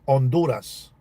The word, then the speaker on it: Honduras: In Spanish, you pronounce it Honduras. The H is always silent.